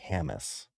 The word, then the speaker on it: Hamas: It's like start saying hamburger and then add my name. So it's like Hamas.